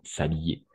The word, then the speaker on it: s'habiller: S apostrophe, donc se habiller, mais parce qu'il y a le H muet, donc s'habiller.